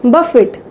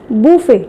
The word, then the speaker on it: buffet: Next word is buffet. What we call, some people say it as buffet, somebody say it as buffet, but it is correctly called as buffet.